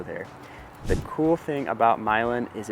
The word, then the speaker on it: Milan: the town of myland yes it's pronounced milin not Milan what if you're moving here and you pronounce it Milan people are going to